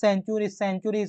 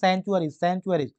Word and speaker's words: sanctuaries: দেখো প্রথমে কি লেখা আছে, সেঞ্চুরিজ অর্থাৎ কি অভয়ারণ্য, সেঞ্চুরিজ অর্থাৎ হচ্ছে অভয়ারণ্য। তাহলে সেঞ্চুরিজের মানে যে একটা স্পষ্ট মিনিং আছে সেটা হচ্ছে SANCTUARIES, সেঞ্চুরিজ মানে হচ্ছে অভয়ারণ্য। দেন আছে স্যাংচুয়ারিজ, উচ্চারণ হয় স্যাংচুয়ারিজ।